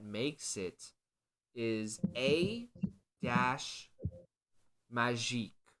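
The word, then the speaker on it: Kmagic: it is a dash magic that's with a silent k at the beginning so a Das k m a g i c okay so this this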